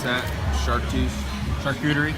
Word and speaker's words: charcuterie: hush puppies were second and how do you pronounce that shark juice charcuterie charcuterie uh but that's saying a lot because this